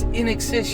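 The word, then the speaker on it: INXS: He goes, no, man, it's In Excess. You're saying it wrong.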